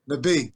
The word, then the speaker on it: Nabih: Nabih.